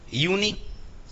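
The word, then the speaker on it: university: अब भले ही ये देखो, अब ये भी यूएन से स्टार्ट है कि नहीं, ये भी यूएन से स्टार्ट है, लेकिन यहां पे लेकिन आई है, तो इसको इन तीन को कंबाइंड पढ़ा है यूनी।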